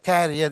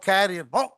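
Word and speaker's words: career: அந்த கேரியர், your கேரியர், கேரியர்னு சொல்லக்கூடாது. அப்புறம் கரியர், ஓ.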